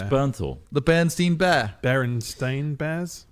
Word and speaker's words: Bernthal: You see, you can't remember his last name's impossible to Jonathan pronounce. Berenstein It's Bear. Bernthal.